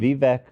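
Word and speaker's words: Vivek: Vivc Ramaswami. Vivvec.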